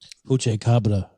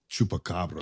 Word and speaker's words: chupacabra: Puche Cabra. How do you say it? Chupacabra.